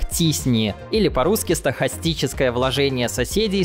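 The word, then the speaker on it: t-SNE: Наверное, самым популярным из них является алгоритм с таким вот названием, который является полуакронимом и произносится как TISNI, или по-русски стохастическое вложение соседей с T-распределением.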